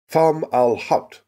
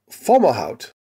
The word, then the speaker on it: Fomalhaut: A pronunciation I decided upon after several long minutes of listening to Arabic speakers online. Fomalhaut, the mouth of the